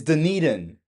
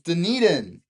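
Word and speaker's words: Dunedin: It's Deneden. I knew it. It's Deneden. No wonder nobody wants me to list their properties cuz I keep saying Deneden.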